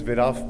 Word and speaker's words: Viraf: My name is Viraf Patel. For those who don't belong in this country, are not familiar with this name, my name rhymes with giraffe. It's giraffe with a V, so that with our silly introduction out of the way.